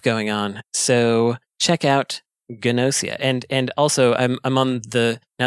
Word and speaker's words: Gnosia: And this one is called Gnosia, even though a G and an N sound would be silent normally.